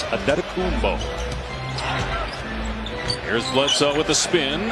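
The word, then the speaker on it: Antetokounmpo: Pronunciation guide in the Milwaukee game notes. It is Adetokumbo.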